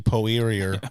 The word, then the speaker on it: Poirier: You pronounce it weird. It's obviously Poirier. Poirier. Yeah. Poirier. Yeah, I know. He's a Frenchman.